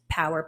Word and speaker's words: PWR: It's pronounced Power, PWR, Performance Wellness Recovery.